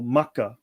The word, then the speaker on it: Makkah: because the god is also called Mecca or Makkah as the which is the regional pronunciation, right?